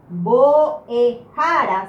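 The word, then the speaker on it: mbo'ehára: La palabra boejara significa maestro, profesor, profesora, docente. La palabra boejara es mucho más fuerte en esta sílaba.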